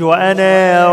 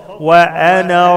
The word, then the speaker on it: وانا: وانا ربكم وانا ربكم الالف لا تنطق ما اقولش وانا يا ربكم خطا وانا ربكم وانا ربكم ربكم ربكم